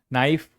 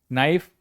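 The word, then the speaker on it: knife: नाइफ, K silent, नाइफ, चाकू।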